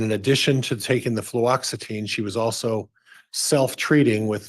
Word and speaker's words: fluoxetine: Fluoxetine.